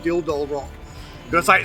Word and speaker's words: Dildo: It used to be called Ging Head Rock before it was called called Dill Doll Rock. Got to say, you put a pause between otherwise it comes out all wrong.